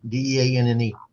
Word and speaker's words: Deanne: And her name was Dean, Deanne. That's how she pronounced it.